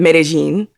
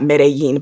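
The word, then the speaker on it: Medellín: the boy from um medellin and i just learned that apparently that's how you say it if you're from colombia not medellin but medellin um about j balvin do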